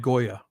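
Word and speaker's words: Gioia: His name is Ted Goya. That's how you pronounce his name.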